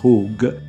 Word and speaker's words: chug: Non vado a ripetermi perché ho già fatto le precise ricerche del termine chug, si pronuncia hug, che ogni volta per